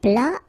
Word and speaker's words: plat: Then un plat principal, final T here not pronounced.